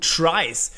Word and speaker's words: trie: And no, try is not a terrible spelling mistake from me, it's because of the word retrieval. Even if you write retrieval, you pronounce it as try.